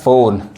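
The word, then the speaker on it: phone: जैसे आप पीएच पढ़ेंगे अब ये जो पीएच जो मिक्स लेटर है ये क्या पढ़ाता है फ पढ़ाता है जैसे पी एच ओ एनई यहां पे क्या पढ़ा रहा है फोन पी एच ओटी ओ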